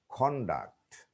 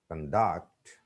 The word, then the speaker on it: conduct: When we use some words as nouns or adjectives, the stress is on the first syllable. But when they are used as verbs, the stress is put on the second syllable.